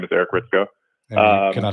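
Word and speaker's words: Hritsko: Uh, again, my name is Eric Ritzko. Can I spell that for everybody?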